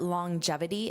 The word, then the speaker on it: longevity: Now, notice that pronunciation, longevity. So, you hear this j sound even though it is not there in spelling. And that's to help transition between this long this g sound, longevity, gevity, longevity.